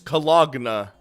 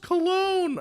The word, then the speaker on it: cologne: Still his cologna. Scott, it's pronounced cologne.